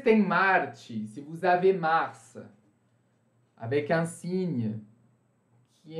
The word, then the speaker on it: Mars: Mars. Aqui também a gente pronuncia o S. Bem excepcional, tá, gente? Não coloquem isso como se fosse uma regra, hein?